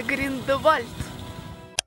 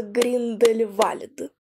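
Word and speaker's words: Grindelwald: Просматривая карту Швейцарии, я вдруг натыкаюсь на название Гриндевальд. На самом деле правильно произносится Гриндельвальд.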